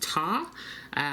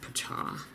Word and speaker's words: Ptah: I actually thought it would be pronounced Ta. So let me know if you know of another pronunciation, but several places pronounced it Ptah.